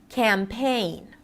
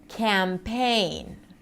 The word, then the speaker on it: campaign: Now let's talk about trickier words where you have two syllables and a primary stress and a secondary stress. No reductions here. Campaign. Campaign.